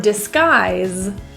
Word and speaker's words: disguise: In the word disguise, the final S sound is actually pronounced as a Z, a voiced Z.